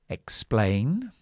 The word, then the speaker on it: explain: have an X um when we have an X which is uh stressed when we stress here at the beginning the X is a KS. When we stress the X, when we stress the symbol Sorry, the the second symbol here, the X is a GZ. So, this is um explain or exam.